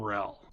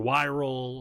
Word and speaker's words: Yrel: introduced a really amazing character named rel or yrel or again I tend to just say rel but with the why is silent but why Arielle a